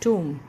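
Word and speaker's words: tomb: तो टोम्ब नहीं होता वो, इट्स टूम।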